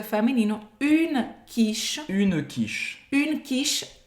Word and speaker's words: quiche: Une quiche. Une quiche. Une quiche. A pronúncia também vai acabar no sh.